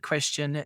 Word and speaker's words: QSTN: may have been mispronouncing it all along you pronounce that question if people are confused we've been using them interchangeably throughout the interview so moving on to question assuming that i know nothing because i've done